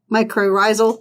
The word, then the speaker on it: mycorrhizal: because she's talking about like discovering like the metacrosal. I'm not to pronounce that right. How do you pronounce it? It's like mycorrhizal.